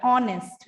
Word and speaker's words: honest: Honest, এইচ দিয়ে শুরু হচ্ছে কনসোনেন্ট, বাট এটার উচ্চারণটা সাউন্ডসটা কিন্তু ভাওয়েলের মতো, এর মতো শোনা যাচ্ছে, অনেস্ট, রাইট?